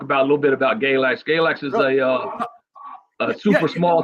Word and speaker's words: Galax: Galax.